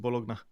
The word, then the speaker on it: Bologna: bologa bologna or bologa I like to say bologa but I don't know some people pronounce it bologna is that for those